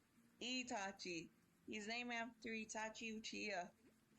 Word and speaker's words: Itachi: Wait, who is Tachi? No, it's Itachi. Itachi.